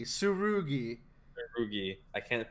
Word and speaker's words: Tsurugi: intervention right now okay his name is sue roogie the rule comes before the G Tsurugi Ruby I can't pronounce